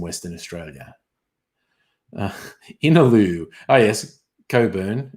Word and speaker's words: Cockburn: Oh, yes, Coburn. It's not really pronounced Cockburn usually.